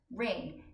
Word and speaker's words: wring: Ring. It has a silent W in it.